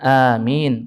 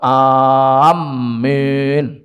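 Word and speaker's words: آمين: Sedangkan sebagian muslimin membacanya asal-asal sampai merubah arti, mereka mengucap amin, rusak maknanya. Dan kalau sudah amin seperti yang kami contohkan, diberi tasydid pada mim dan dimatkan, maka ini seperti dalam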